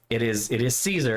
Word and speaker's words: Caesar: I mean, don't get me wrong, there is a wrong answer, and it's Kaiser's Legion. And if it sounds like that's saying Caesar wrong, you're correct. It is Caesar.